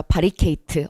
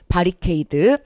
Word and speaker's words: 바리케이드: 영어로 뒤로 끝나고 거든요 어르신 발음이 줘 바리케이트 어르신 발음하면 안되고 바리케이드 자 그리고 콘셉트 콘텐츠